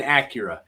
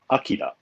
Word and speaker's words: Akira: So in Japan, it would probably be pronounced something like Akira, Okay. which is it's a pretty common name. So, but I think when the anime sort of made its waves in the U.S., it became Akira, just through We can't pronunciation pronounce differences.